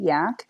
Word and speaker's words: Yack: vegan Yakutat calm and it's Y ACK yak because it comes from Jackie not like vomit but I say it's spelled like vomit not the animal for people to discern